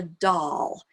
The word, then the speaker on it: Dahl: month or so is called the doll. And it's spelled like, Willy Wonka and the Chocolate Factory. The author's last name is Dahl, D-A-H-L.